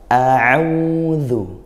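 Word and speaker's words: أعوذ: Hamzah berasal dari bagian bawah tenggorokan, sedangkan 'Ain berasal dari bagian tengah tenggorokan. Bedakan pengucapannya. "Auzu."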